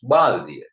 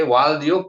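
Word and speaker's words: බාල්දිය: One thing, Tamil people couldn't pronounce Baldia. They Valdio, Paldia pronounce.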